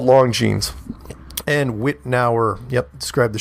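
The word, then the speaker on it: Longines: long jeans witnaur hour I'll give you the pronunciation I know I called it long johns it's called long jeans and witnaur yep describe the show see the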